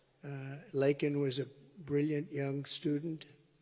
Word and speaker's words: Laken: and Riley you know Laken very well now and after months of prodding him Biden couldn't pronounce her name said uh he said Lincoln Lincoln Riley and Lincoln Riley was